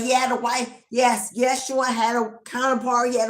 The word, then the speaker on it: Yeshua: His name was Yeshua, or Yeshua, however you pronounce it. I say Yeshua.